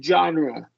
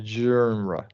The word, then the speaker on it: genre: garage great uh so you don't want to say genre you want to say okay JRA yeah yeah the Frenchie